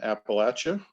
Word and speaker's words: Appalachia: It's beautiful here in Appalachia, as they would pronounce it here.